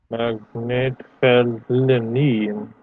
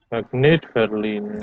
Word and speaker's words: Magnetfeldlinien: So with that in mind, what would be the stressed syllable for the whole compound here? Magnetfeldlinien. It's not linien, it's linien. Linien. Right, but the main stress is on the net. Magnetfeldlinien. Magnetfeldlinien.